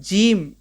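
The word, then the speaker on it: ج: जो first first letter देखें जो डॉट से है जिसके पेट में डॉट हो इसको कहते हैं हम जीम।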